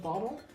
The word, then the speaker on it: bottle: weird about the word bottle? How many vowels do you think are in the word bottle? Because I'll give you a hint. It's less than two. This is the only vowel in bottle.